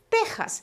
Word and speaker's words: Texas: si fuera una jota texas se escribe con equis pero se pronuncia como si fuera una jota vale si alguien por